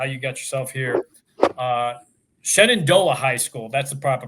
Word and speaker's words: Shenandoah: Shenandoah High School. That's the proper pronunciation, right? Close. Shenandoah.